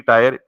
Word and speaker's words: tier: ये 3 टायर application है, जिसको बोलते हैं 3 टायर, TIER। इसको बाद लोग टीयर पढ़ते हैं, बाद टायर पढ़ते हैं, what ever your pronunciation you are comfortable with.